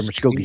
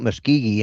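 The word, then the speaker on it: Muskogee: They're muscogi speed bones.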